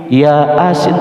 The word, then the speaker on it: Yasin: ya a-nya dua kemudian didempetkan di sini maka bacanya Yasin bukan ya asik masa iya Asik ya kan